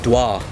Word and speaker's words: Dua: it ah dois well when we're generally talking like when I'm talking to friends and family we say do I fragrances because that the way pronounced by when pronouncing it for the masses we call it dua because that's the way not in English okay so okay so